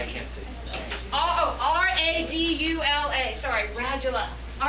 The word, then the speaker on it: radula: comes this tooth-covered tongue, which is called a radula. All right? So, a radula. Can you All spell it? right. I can't see. R-A-D-U-L-A.